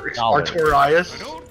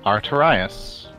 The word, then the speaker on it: Artorias: get the archarias figure but it was 500 artorias i'm pretty sure that's not how that's pronounced artorias a-r-t-o-r-i-a-s victorious arterius killed right here